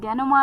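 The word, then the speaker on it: denouement: के लिए बात जो हो रही है वो डेनोमा की हो रही है डी ई एन ओ यू ई एम ई एन टी डेनोमा एक नाउन यानी कि द फाइनल रेजोल्यूशन ऑफ़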